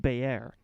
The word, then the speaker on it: Bayer: So it's actually pronounced Bayer. Oh yeah? Yeah, that's Bayer.